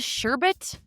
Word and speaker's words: sherbet: Oh, it's spelled sherbet, but I've never said sherbet. I've always said sherbet, even though there's not an R in there. Anyway, it contains 1 to